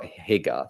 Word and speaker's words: Hygge: And it's about, so it's spelled Hygge, so like Hygge.